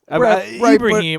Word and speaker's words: Ibraim: It's more like So the English pronunciation would be like like Ibrahim, but it's usually Ibraim.